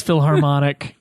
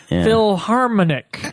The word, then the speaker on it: Philharmonic: or what he reads Philharmonic can't can't quite figure out what the word is Philharmonic I didn't say that I said Philharmonic I silenced the H no I think people